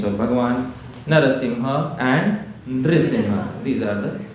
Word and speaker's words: Narasimha: Better let us learn the proper pronunciations of the names of Bhagwan. Narasimha and Nimha.